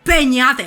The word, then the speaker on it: Peñate: Hay que decir Peñate, así con el sabor.